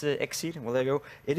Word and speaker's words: Exceed: We can see we have Mitch, Voltage, One Grim, MCE, and Exceed, I think he's pronounced. Yeah. And it's Exceed.